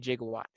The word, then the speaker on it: gigawatt: gigawatt and they said jiggle what but after a variety of random internet searches none of that could really be held as conclusive edit videos apparently gigawatt is an older pronunciation of gigawatt however zemeckis was saying